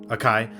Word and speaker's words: Akai: the uh is it i how do you pronounce the name of ikea akai akai yeah the akai npc 2000 yeah yeah which